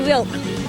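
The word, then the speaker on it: whelk: h e l k but we pronounce it Wilk I've got um con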